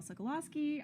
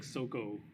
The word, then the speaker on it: Sagolowski: my name is sagolowski i am your panel host and i am joined by i think that's the first time i've heard it pronounced my actual last name i was always like soco now you know now